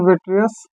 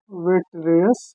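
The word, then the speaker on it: vitreous: तो यहाँ नाम में लिखते हैं कांचाभ द्रव, कांचाभ द्रव, जिसे बोलते हैं वेट्रियस बॉडी। फिर इस पर नहीं लिखने लगे, वेट्रियस बॉडी, ये इसका उच्चारण होगा।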